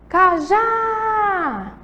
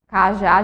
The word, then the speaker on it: cajá: Nal que é oxítona agora vamos lá cajá cajá gente tem aí a sílaba tônica de cajá Qual é o final e da observada cajá gente é uma sílaba aí que tem o acento agudo na última sílaba Vejam Só a gente